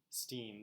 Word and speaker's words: Gladstein: Like, his name was Steen. Gladstein. Yeah. Stein. Yeah. Steen. That's how you pronounced it. It was spelled Stein. But you pronounced it Steen.